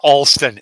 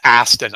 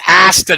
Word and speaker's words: Aston: her name wrong really I called her Alon and it's Aston I felt like I felt like I hate when I do that I hate when I do that it's Aston and I called her